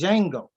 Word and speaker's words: Django: joser even in Django he says the D is silent so it's just Django so then this DJ